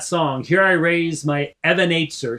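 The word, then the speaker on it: Even Ezer: correctly they they're thinking Ebenezer Scrooge you know it means Stone of help so you say it rightly as the Hebrew would be Evan if and it might open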